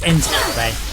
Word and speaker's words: Enskede: It's Enskede. And I'm like, right, we don't have that sound effect in the English language.